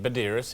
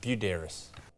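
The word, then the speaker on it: Buderus: He's the only bloke I've met who pronounces his last name wrong. Everyone else calls him Badiris, and he calls it Budaris.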